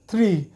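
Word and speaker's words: three: তো এখানে হচ্ছে ওয়ান টু থ্রি এখানে দেখুন থ্রির উচ্চারণটা থ্রি থ্রি থ্রি মানে জিহ্বাটা টুইস্ট হয়ে এখানে রেভিন্ডোরা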